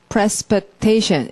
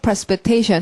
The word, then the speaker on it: precipitation: precipitation. 이렇게 양쪽을 찍어서 precipitation 해야지 말이 길지 않게 느껴져요. 강세를 찍지 않고 느리느리 말하면 precipitate 뭐더라? 이렇게 되잖아요. 딱 둘로 끊어서 발음 precipitation.